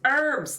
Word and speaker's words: herbs: she's out Gathering herbs it's herbs the H is silent and if it isn't